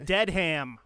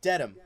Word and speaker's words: Dedham: know all right exactly you want to dead ham close its Dedham so a lot of